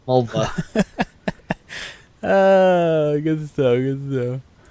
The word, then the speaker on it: Mulva: It rhymes with a female body part. Mulva.